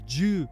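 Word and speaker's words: 十: a hat on top the Japanese 410 is joob Jude sounds like the first part of the word jukebox if she is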